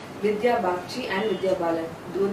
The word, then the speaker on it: Vidya: When you were in Kolkata, did people actually call you Vidya? In Kolkata, people always call me. That's how they pronounce the name.